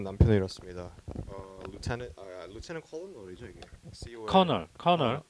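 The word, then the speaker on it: colonel: 커널. 발음이. 커널.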